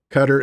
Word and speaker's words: Qatar: Cutter is not the stuff that keeps bugs off. Qatar.